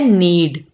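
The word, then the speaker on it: knead: Next देखिए, नीड, और ये भी है नीड। इसमें के जो है ये साइलेंट होगा।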